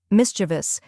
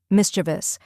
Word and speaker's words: mischievous: pronunciation is Mis chavas only three syllables first we have Miss which sounds just like in mistake next cha which is